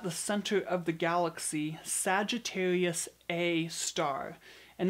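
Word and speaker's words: Sagittarius A*: center of the galaxy Sagittarius a star and notice it looks like an asterisk at the end it is in fact pronounced a star for a while the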